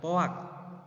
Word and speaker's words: POAC: Nah, ataupun kita di keilmuan ee manajemen itu sering bacanya itu adalah poak.